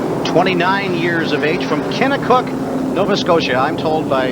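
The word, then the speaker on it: Kennetcook: years of age from kena cook Nova Scotia I'm told by mr. Packham here you don't pronounce the T so you didn't catch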